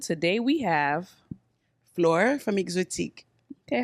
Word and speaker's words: Xotiq: I use Xotiq without the E because I wanted, no matter what language, I didn't want them to pronounce it weird. Okay. So I figured any language, if you start with the X, they'll have it close to how I wanted it to sound.